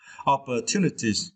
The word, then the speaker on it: opportunities: for this opportunities and you need to strength the third syllable right two okay two opportunities yeah opportunities is made